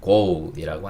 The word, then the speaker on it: goal: 근데 우리는 골이라고 하지만 영어 발음은 goal이라고 한다.